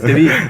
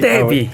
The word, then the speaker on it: Teví: Álvaro Chubé, Teví, Moncosh, lo he pronunciado bien esta vez. El acento es en la E. Gracias. Teví. Teví.